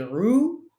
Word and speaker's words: roux: The masculine form ends in an X. The feminine form ends in a double S-E. Il est roux.